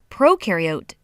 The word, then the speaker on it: prokaryote: is a big deal prokaryote the pro rhymes with no and they have no